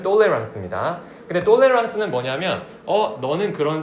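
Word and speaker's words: tolérance: 그거는 이 똑같은 발음에다가 nc 붙여서 영어로 tolerance인데 그걸 불어로 발음하면 똘레랑스입니다.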